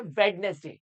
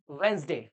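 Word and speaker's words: Wednesday: कैसे प्रोनाउंस करते हो बहुत लोग इसको बोलते हैं वेडनेसडे वेल गाइस मैं आपको बता दूं दिस इज अ इनकरेक्ट वे ठीक है इसका जो करेक्ट वे है वो है वेनसडे क्या है वेनसडे आपको ऐसे बोलना है वन डे वेनसडे क्या बोलेंगे आप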